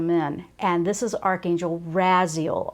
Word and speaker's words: Raziel: and this is Archangel Raziel r-a-z-i-e-l that's how I pronounce it I've heard Raziel I've